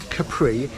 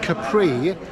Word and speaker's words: Capri: Isle of Capri except she had to change the pronunciation to Capri to rhyme with sea the Isle of Capri